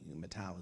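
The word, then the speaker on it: Mateus: Matau is the Portuguese pronunciation of Matthew.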